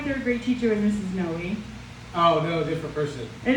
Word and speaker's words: Noe: We only knew of one other Noe family in the area, and they actually pronounced it No, and they were from San Antonio.